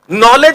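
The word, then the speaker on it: knowledge: नॉलेज में बीच में डी क्यों है?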